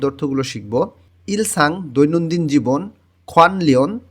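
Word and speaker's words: 관련: শিখবো ইলসাং দৈনন্দিন জীবন খনলিন নিউন বাচ্চিমের পরে যখন রিউল আসে তখন ন টাও ল এর মতন উচ্চারণ হয় খনলিন অর্থ সম্পর্কিত ধংজাক অর্থ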